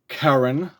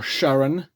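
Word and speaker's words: Charon: stats as we buy them out so here's karen or sharon depending on your pronunciation the the ferryman the river ferryman you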